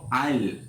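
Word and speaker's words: I'll: Written আমরা আই উইল লিখবো, কিন্তু স্পিকিং আমরা বলবো আইল। জমির হাঁটার জন্য যে আইল আছে, জমির মাঝখান দিয়ে, সে একই উচ্চারণ হবে আইল।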